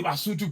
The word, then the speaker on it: Basotho: So King Moshoeshoe was leading the Basotho people. Right? But we pronounce it as the Basotho people.